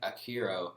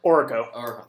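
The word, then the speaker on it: Aurico: That goes back to the Alien Rangers, with Delphine being being the leader of the team, but Akiro Orko. Thank you. I always pronounce that wrong.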